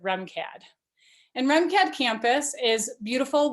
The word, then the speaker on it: RMCAD: remcad for short so it's spelled rmcad but go ahead and pronounce it remcad and remcad campus is